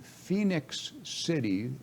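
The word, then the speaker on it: Phenix City: A reporter named Maya Johnson reported on August 15th in Phoenix City, it's spelled Phenix, in Alabama.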